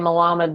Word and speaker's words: Malamed: introduction who is Melamed you know over the I actually pronounce my name Muhammad but it's okay because everyone says it differently you tried your butcher